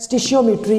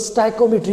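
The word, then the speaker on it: stoichiometry: आपके पास next topic है स्टिशियोमेट्री, जिसको स्टाइकोमेट्री भी कहते हैं, स्टिचियोमेट्री भी कहते हैं। डिफरेंट जो इसके नाम जो है वो प्रोनाउंस किए जाते हैं।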